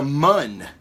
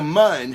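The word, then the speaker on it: Muun: Darth Plagueis is he was a Mun, which was a very tall. I pronounced that right, Jason. Mun, M-U-N-N.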